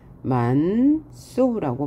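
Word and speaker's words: 많소: 만소의 경우도 똑같다. 만소라고 발음하죠.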